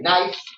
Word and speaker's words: nice: Because you could say nice, and the C in nice is soft. It sounds like S.